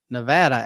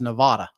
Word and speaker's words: Nevada: Yeah, and I remember being in the MTC, and I would pronounce Nevada as Nevada. Mm-hmm. And they said, a missionary says, he said, I promise you'll be saying Nevada here pretty soon.